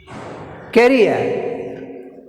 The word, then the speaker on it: career: Next, career. Career. Career. Ria. Career. Career. Career. Ria. Here Ria.